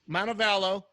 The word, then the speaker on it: Montevallo: University of Montevallo how do you say that montebello Montevallo we've talked about that before career 305 hitter